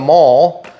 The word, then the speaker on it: Maule: so this plane the mall pretty easy to build um the hardest part about this plane is not pronouncing the E and looking like an idiot like me I did